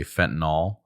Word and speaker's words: fentanyl: Wisconsin by a doctor I always say Fentanyl and he said it's actually fentanyl oh really like NyQuil not like Tylenol I said all right